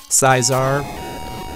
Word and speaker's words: Scizor: Scizor. I pronounce it Scizor just because that's kind of what I think is how I think it's pronounced.